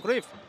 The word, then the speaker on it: Cruyff: la última etapa de Johan cruyff de Johan Craft de hecho es como se pronuncia en holandés en el Barça en